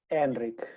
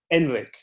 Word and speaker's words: Enrique: it's so funny and am i pronouncing your name correctly when i go enrique is that right is that correct well we say enrique enrique yeah i like to